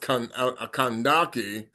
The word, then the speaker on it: Kandake: And her name is pronounced Kandake, was the title for queens of mothers of ancient kingdom of Kus.